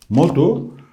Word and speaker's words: Modu: yanında Metehan Aslında bahadırtır onun orijinal okunuşu Çin kaynaklarında modudur modu bugünkü eski Türkçedeki bakato